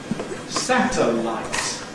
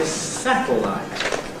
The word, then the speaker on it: satellite: You will find there is an alternative pronunciation with syllabic L. So, for example, with your television, you can pick up certain channels by satellite. Alternatively, by satellite. I think I would usually say satellite.